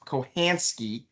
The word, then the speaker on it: Kachansky: supposed to be pronounced, he will actually say it's supposed to be pronounced Kohansky, which I don't even understand. The C is supposed to be silent.